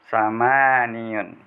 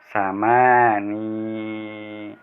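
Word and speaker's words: ثمانٍ: Nah, untuk 8 muannas boleh, ini tanya cara membacanya, samani atau samaniyun, boleh. Jadi yang paling benar membacanya, teknik membacanya adalah samani.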